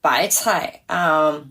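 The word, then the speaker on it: 白菜: That sounds like the words for many riches.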